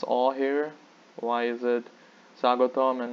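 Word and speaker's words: স্বাগতম: you might have the question why aren't we pronouncing this all here why is it sagotam and not sagatomo or sagota mall of course did i mention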